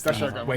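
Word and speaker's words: Doshaguma: It's the Shagama. It's Dashagama. That's how they say it in the game, right? The Shagama. It's really hard to say consistently. Yeah, but that's how they say it, and that's crazy. I believe that's the technical. There's already a comment actively being typed, like, actually. On that topic, I was saying Doshiguma. That's how it sort of looks like it's phonetically pronounced.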